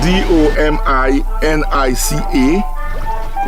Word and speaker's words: Dominica: It is spelled D O M I N I C A.